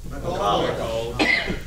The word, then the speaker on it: McAuliffe: I should know his name, but I mean, how do you pronounce it? McAuliffe.